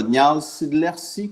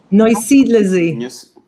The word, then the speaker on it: Neusiedlersee: Tu me corriges, Véro, Nialsidlersi, qu'on va le prononcer, le lac? Neusiedlersee.